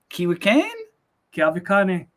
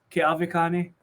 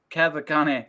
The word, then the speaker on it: Keawekane: that your last name kiwi kane kawakana okay the the w is pronounced like a v que avicani que all the kane all right so i am with the one the only dj kavakani i it's so weird